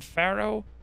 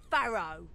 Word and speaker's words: Farrow: 60 crit now on pharaoh say my name jizz wipe it's farrow that's insane nice those